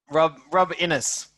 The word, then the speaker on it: Rob Innes: that's how you pronounce tell me if you pronounce it right or wrong rob innis yes it is gotcha so you you've been